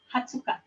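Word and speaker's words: 二十日: 20 ini ada pengecualian ini Angka spesial jadi 20 tanggal 20 itu dibacanya hardcase hatsuka ya 20 itu harus kaya jangan lupa ini diingat jadinya nggak dibaca 20hz Nah untuk gua satu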